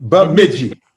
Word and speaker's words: Bemidji: Bemidji.